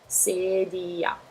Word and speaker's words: sedia: tiny bit harder because it has two vowels one after the other, which is sedia. There's nothing weird about them, you just pronounce the two vowels one after the other as they come.